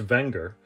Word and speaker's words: Wenger: bit more about the watch thank you technically pronounced wenger the company dates back to the late 1800s